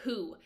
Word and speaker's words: HU: Then hu or who, it's a sacred syllable who that aligns you with the current with the sound current that you ride to God. That's who. That is the sacred syllable.